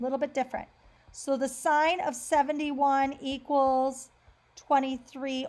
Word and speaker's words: sine: going to look at sine a little bit different so the sine of 71 equals twenty three over X again that's not sin it's actually pronounced sine so make sure that